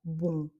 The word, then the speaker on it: bon: H je ne ferme pas les lèvres, je ne prononce pas le M, je dis simplement bon de manière un petit peu rebondie comme ça par rapport à un bon en français qu'on coupe qui est très court et encore une fois très clair.